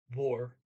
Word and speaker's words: hvor: There's a silent H in the word where, vor, HVOR.